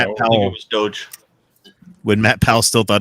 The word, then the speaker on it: Doge: Doge, D-O-G-E.